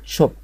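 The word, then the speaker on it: shop: هنا الاس اتش بتتنطق زي في العربي زي حرف الشين، اس اتش اللي هي ش كده. فنشوف كلمة شوب، شوب يعني محل شوب.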